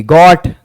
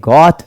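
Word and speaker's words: goat: पढ़ते थे जीओ एटी गट गॉट means बकरी बट ये गट नहीं इसको गोट पढ़ते हैं अगर यह गट मींस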